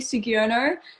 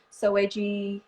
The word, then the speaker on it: Soegiono: last name i know my last name is so hard to pronounce people always think it's like so edgy you know or something my friend my friend made it up like so which phoebe's so edgy you know and i'm